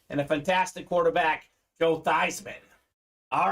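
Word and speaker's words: Theismann: Football Hall of Famer his name was actually pronounced Joe thievesman but at Notre Dame that said change your name to Theisman so we can campaign new Theisman for the Heisman didn't quite win the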